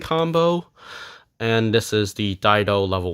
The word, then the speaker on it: Dido: It's pronounced Dido because of the katakana.